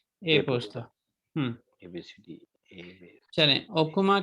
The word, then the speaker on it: e-posta: Telephone होता है और ए पोस्ता होता है, ई पोस्ता नहीं, ए पोस्ता।